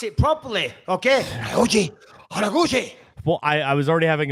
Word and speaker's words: Kyoji Horiguchi: Pronounce it properly, okay? Kyoji Horiguchi.